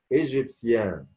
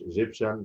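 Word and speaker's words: égyptien: ايجيبسيان، مش ايجيبشن، لا ايجيبسيان، ايجيبسيان اهي.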